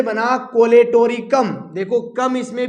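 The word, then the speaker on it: Colletotrichum: तेरा ड्रामा कर ले तू कम, तेरा ड्रामा से है ट्राइकोडर्मा, कर ले तू कम से है कोलेटोरिकम, वरना यहां पे साइलेंट है।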